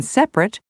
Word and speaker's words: separate: aspirin separate chocolate family the first e in interesting the first I in Aspirin the first a in separate the second o in chocolate and the i in family are all dropped so that you